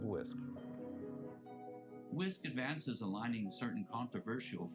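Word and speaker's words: WSCC: The CDC refers to their plan as a whole school, whole community, also called WISC, W-S-C-C, and I will pronounce it WISC model throughout this presentation.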